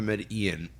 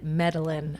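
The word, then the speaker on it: Medellín: Oh, I did like the find it- Georgia pie, not the Median.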